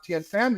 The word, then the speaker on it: Thien: I'm really happy to have THIEN here. Oh, Did I pronounce that right, by the way? it's pronounced tin, just like Tin. a can. Oh, just but tin.